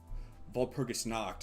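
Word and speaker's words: Walpurgisnacht: Frigid Knight here as always and it is once again VPergus night or Vulpergus knocked as I prefer to pronounce it in the original German.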